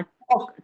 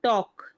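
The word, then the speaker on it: talk: टी ए एल के इसे कहते हैं हम टॉक टाक या टाक नहीं कहेंगे हम कहेंगे टॉक टॉक है ना टॉक और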